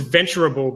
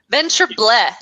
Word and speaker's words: Venturable: Yeah, so it's supposed to be just venturable, as in understandable, observable. So it's just a natural extension of the word.